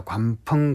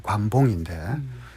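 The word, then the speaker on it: 關鋒: 그 중에 이제 이를테면 저 중국의 학자 관펑 같은 학자들은 뭐 우리 발음으로 관봉인데 장자를 그야말로 이 무기력한 지식인의 전형이다.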